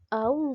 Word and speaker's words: aún: sin tilde y el aún con tilde. Aún sin tilde es un monosílabo. En cambio, el aún con tilde es un polisílabo. Tiene dos sílabas, ¿ya?